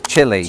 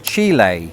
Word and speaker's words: Chile: And inexplicably, I and quite a lot of people in Britain were aghast at the typical American pronunciation, which is Chile.